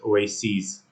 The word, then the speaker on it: oases: is called Oasis and in plural form you pronounce it oases paren stress is on the letter R parenthesis